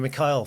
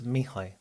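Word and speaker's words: Mihály: Yeah, I always call him Mikhail for a long time, but then I did realise that actually that's not how you say it.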